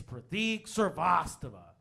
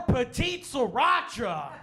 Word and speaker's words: Prateek Srivastava: do you say your name I'm like it's pratik service tava he's like okay and there was awkward pause